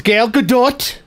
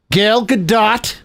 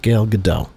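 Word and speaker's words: Gal Gadot: ] anymore um okay that's Gil GDOT Gil GDOT I I'm comfortable with either one it is not Gail gdau if I hear Gail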